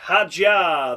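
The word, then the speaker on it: Hadjar: Isaac Hajar. That's how you say his name.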